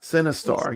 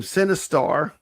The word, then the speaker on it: Sinistar: It sounds the same. Sinistar. Yeah, it's spelled Sinistar. Yeah, like sin like movie. Sin, yeah, like a sin.